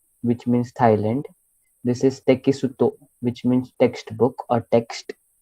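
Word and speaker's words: テキスト: Text नहीं pronounce करोगे Japanese में. Tekitsu. I will Tekisuto. Correct. Okay. So Japanese में जैसे लिखा है वैसे ही pronounce करना है. उसका इंग्लिश में क्या बोल रूपांतर मत करो. Okay. So this is your te, then this is your ki, then su, and then to.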